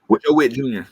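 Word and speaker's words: Joe Whitt Jr.: Joe Witt Jr.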